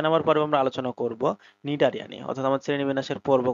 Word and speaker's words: Cnidaria: সিক্স তো ছয় number পর্বে আমরা আলোচনা করব নিডারিয়া নিয়ে অর্থাৎ আমার শ্রেণীবিন্যাসের পর্ব কত বলতো শ্রেণীবিন্যাসের পর্ব দুই নিয়ে নিডারিয়া নিয়ে নিডারিয়া বানানটা একটু খেয়াল করো কিন্তু হ্যাঁ সি আছে